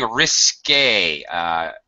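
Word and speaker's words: risqué: He was banished, really, for telling risque. Jesus, the pronunciation, notice the accent aigu is what that's called on the E. There's a little accent mark. Risque. Jesus, do you know what risque means?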